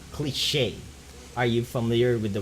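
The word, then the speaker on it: cliché: It's usually an author with a non unique or something that's not cliche. Are you familiar with the word cliche? Cliche. I don't know. Cliche Cliche.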